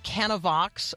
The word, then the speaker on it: Canavox: joining us now she's the executive director of canavox which I am now going to ask her